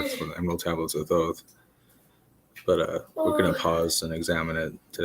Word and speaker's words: Thoth: The writer is Thoth, or Thoth, I've heard pronounced as well. I say Thoth, an Atlantean priest king